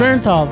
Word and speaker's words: Bernthal: undoubted what men think that's Bernthal too many ins too many syllables man Bernthal thank you there